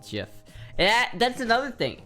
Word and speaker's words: GIF: care if the original Creator meant it to pronounce GIF it's GIF no one ever no one's ever going to